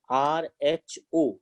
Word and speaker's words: rho: What is its pronunciation? R-H-O, rho.